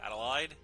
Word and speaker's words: Adelaide: Adelaide. It's pronounced Adelaide, thank you very much.